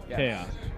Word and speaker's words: Kaos: looking for the game remember it's spelled k-a-o-s chaos yes two k's kaiju chaos with k's well where can people